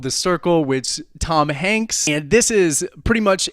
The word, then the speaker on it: Hanks: John boyega and this this upcoming honks hey I'm getting information from my producer right now it's pronounced Hanks so amazed a young